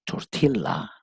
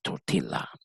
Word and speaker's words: tortilla: this authentic tortilla soup tortilla in Portuguese and Spanish has posed tour Atilla maybe the Americans pronounce it tour Tila okay have you had